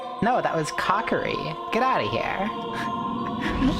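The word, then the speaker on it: Kokiri: Uh Kieri. No, that was Cockeri. Get out of here. Like I just pronounced everything wrong.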